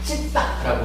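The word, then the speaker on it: citta: 그리고 마음 진짜를 쓰는 요 마음, 요거는 찢다라고 불러요. 요 C가 영어하고는 좀 달라서 요 C가 이제 쯔, 그러니까 쌍지읒 발음이 나고요. T가 트가 아니고 뜨 이래가지고 찢다 이렇게 돼요.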